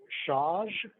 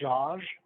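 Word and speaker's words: Szasz: a psychiatrist named Thomas shaj s-z-a-s-z I think that's Hungarian um I don't know how to pronounced but I think it's Josh he he spoke about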